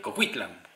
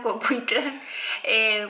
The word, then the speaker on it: Coquitlam: a la ciudad de Coquitlam, ¿correcto? Creo que sí, es que es Coquitlam, Coquitlam. Bueno, nuestra pronunciación definitivamente es muy latina, pero hasta donde sabemos es similar a Coquitlam.